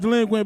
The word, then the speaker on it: Dlequint: It's pronounced delinquent, bitch.